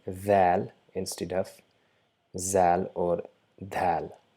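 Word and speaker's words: ذال: So it's the mixture of the and Z to produce the sound Dhal by touching the tip of the tongue along with the tip of the top two incisors.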